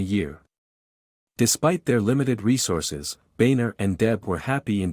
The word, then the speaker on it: Boehner: John Boehner is a politician whose original German name, Boehner, was changed to Boehner by German Americans over time. However, due to the spelling, his schoolmates used to pronounce it as Boehner.